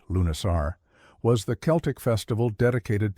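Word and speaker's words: Lughnasadh: Lugnasad, pronounced Lunasar, was the Celtic festival dedicated to Lug, the god of light, skill, and battle.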